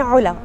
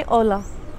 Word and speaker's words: علا: يعني خسرت اسمي ببساطه انا اسمي علا اول حرف من اسمي عين والوحيده اللغه العربيه التي تنطق هذا الحرف بقى صار اسمي اولا بعدين لما ايت لهون